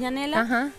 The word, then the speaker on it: Yanela: janela te llamas Claro mi segundo nombre es yanela se escribe Janel y bueno por